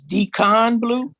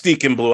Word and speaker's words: Deacon Blue: been saying Deacon blue are you telling me is Decon blue no it's Deacon blue I said it wrong